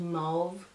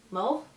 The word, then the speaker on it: mauve: and this transition shade nude mauve no nude mole yeah that's how you say it uh rebellion helio